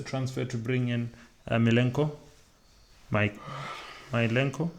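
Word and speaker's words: Mykolenko: Milenko? Is that how I pronounce his name? Milenko. Yes, the Everton defender.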